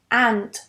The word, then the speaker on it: ant: The next one, ant, ant, not ent, ent, ant. Very open and very short as well.